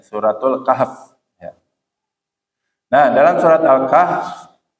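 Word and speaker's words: سورة الكهف: alkahf alkahfi atau alkahf alkahf itu harusnya bacanya suratul Kahf ya Nah dalam surat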